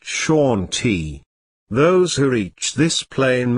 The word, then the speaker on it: Shanti: of this invisible plane is Shanti pronounced Shati those who Reach This